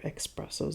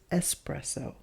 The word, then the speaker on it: espresso: shops have people order expressos as well but remember there's no such strength and there is no such word as expresso the correct pronunciation is espresso let's look at it